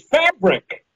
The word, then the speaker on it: Phabriq: You find and to find you personally is through your website, which is Fabric. But it's not spelled like you think about it. It's PHABRIQ, right?